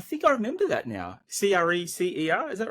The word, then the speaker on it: Crescer: Crecer, is that right? Yeah, Crescer?